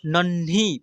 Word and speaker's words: नन्ही: क्या लिखा हुआ है न और आधा न और ह में छोटी ई की मात्रा नहीं करके बड़ी की मात्रा नन्ही पढ़ेंगे देखिए यहां पर छ